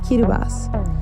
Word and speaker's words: Kiribati: plans this week we're in Kiribati or as the locals pronounce it Quito bus I won't even try